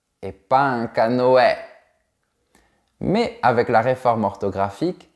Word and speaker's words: canoë: a toujours des exceptions exception numéro 1 avec le tréma sur le E normalement on doit prononcer est mais il y a quelques petites exceptions où on prononce comme par exemple un canoë et pas un canoë